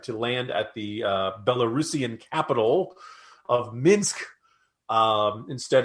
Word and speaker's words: Belarusian: looked it up and lo and behold belarusian is to pronounce is the correct pronunciation so kudos to greg